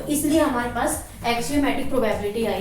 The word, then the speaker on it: axiom: कई बार हम कंफ्यूज हो जाते हैं, जैसे नेक्स्ट ये वर्ड आएगा अभी एक्सियम। ठीक है, ये हम क्या बोलते हैं, एक्सियोम बोलते हैं, बट होता क्या है, ये एक्सियम होता है। ठीक है, तो इसकी जो प्रोनाउंसिएशन है वो आप ठीक से करना फर्स्ट ऑफ ऑल।